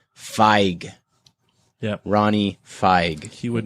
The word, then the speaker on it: Feig: Feig is actually pronounced Feig.